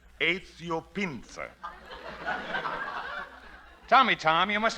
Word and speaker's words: Pinza: Is Is that the way you pronounce it? That is right. Pinser. How's that again? E Z I Otto. Pinser. P as in Peter. I N Z Aio Pinser.